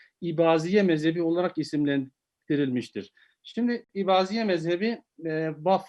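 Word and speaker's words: İbadiye: şimdi ibadiye mezhebi bak Farklı kaynaklarda bazen Eba diye bir katil gibi Elif Elif'in Üstün okunmasıyla bazen de ibadiye şeklinde telaffuzu tarih boyunca söz konusu olmuştur özellikle meşarik A dediğimiz Doğu bloğu ibadiler de ibazi şekline bazı şeklinde telaffuz daha yoğun bir şekilde olmuştur Abdullah Beni bazen üretemeyen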